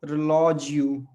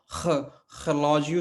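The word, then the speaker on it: relógio: तो रिलॉजियो, रिलॉजियो, और ये र से शुरू हो रहा है, तो कई बार पुर्तगाली इसको, या जो मानक पुर्तगाली उसमें ये इसको खलॉजियो से भी शुरू कर सकते हैं, खलॉजियो या खलॉजियो, है ना। तो आवाज काफी पीछे से आती है ना, खलॉजियो।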